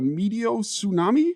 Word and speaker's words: meteotsunami: even pronounce the word is it a medot tsunami is that is that right you pronounced that right yeah so nailed it